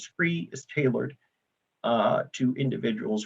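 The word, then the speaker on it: SCRIE: to two different constituencies one of them is spelled s-c-r-i-e the other one is spelled d-r-i-e these are two of the flyers uh that represent those two distinct names same program different names that's because scree is tailored uh to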